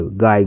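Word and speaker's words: guy: जी यू वाई गाय।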